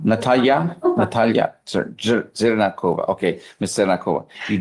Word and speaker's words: Natalya: How do you pronounce your last name? Zerakova. Zernakova. Z. Z. Okay. And it's is it Natala? Natalya.